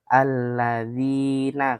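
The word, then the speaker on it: الَّذِينَ: Alladzina. Kalau i-nya dua berarti dua ketukan.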